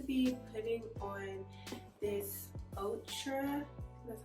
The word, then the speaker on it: Outre: I'm going to be putting on this Outre, that's how you say it, Outre Perfect Hairline wig, and it doesn't look like this, but this is what it looks like.